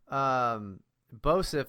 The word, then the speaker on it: Boseph: Also, for the fucking people out in Rio Linda, Bosif is BOSEPH. Yes. It's spelled like it's pronounced.